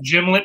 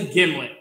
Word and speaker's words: gimlet: gin starts with a soft g jiff is pronounced jif and not gif is this gymlet or is this a gimlet this is a gimlet oh all right well fair enough so tell